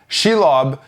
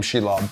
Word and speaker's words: Shelob: What's interesting is that Shelob is actually she for the girl, and lob is Old English for spider, which is super interesting. So I love that name, Shelob.